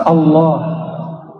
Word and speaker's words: Allah: Lafaz Allah. Coba baca Allah. Saya orang Sunda bacanya Allah. Ya, Al itu bukan dia lam ketemu lam. Allah. Harus disambung bukan mati Allah.